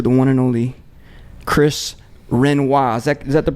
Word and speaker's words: Renois: We're gonna talk to the one and only Chris Renois. Is that the you pronunciation?